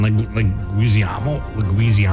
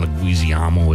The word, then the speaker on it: Leguizamo: John Leguizamo. Is that how you say it? Yeah. I have no idea who that is. You know who John Leguizamo is.